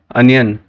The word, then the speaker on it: onion: Number 8 अनियन, ONION, कई लोग ओनियन बोलते हैं, ओनियन मैंने प्याज।